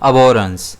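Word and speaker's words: abhorrence: इसे हम प्रोनाउंस करेंगे अबोरेंस जिसमें स्ट्रेस जो है वो एज पर आता है।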